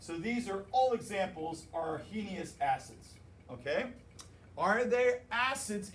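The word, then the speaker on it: Arrhenius: these guys right here are are heinous h is silent because we have to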